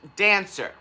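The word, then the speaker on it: Daancer: Um, the name of this shoe is called dancer. Sounds normal, right? However, it's spelled dancer with two N's. Yeah. D. Wait, no, two A's. Two A's. D A A N C E R.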